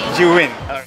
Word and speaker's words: Zhiyun: This is one of the signature differences between the lab products from Zhiyun. From, how do you pronounce it again? What? Zhiyun.